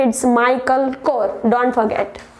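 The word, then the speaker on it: Michael: ऐसा लगता है इट्स मिशेल, but guys it's नॉट मिशेल, इट्स माइकल core. What? Repeat after me, इट्स माइकल core.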